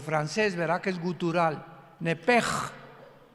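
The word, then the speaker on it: נפש: en el hebreo es nepesh con sh al final, como suena nepes. Pero la sh en hebreo se pronuncia como J. Entonces se pronuncia nep como el francés, ¿verdad? Que es gutural. Nepej.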